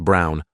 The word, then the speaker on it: Braun: of the historical figure Eva Braun pronounced Brown wife of probably one